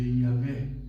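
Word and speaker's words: Yahweh: che conosciamo Yahè, ma si può pronunciare mettendo le vocali, la a e la e, altrimenti sarebbe assolutamente impronunciabile con gli y h w e di nuovo h. Mettendo la a e la e si legge Iahè.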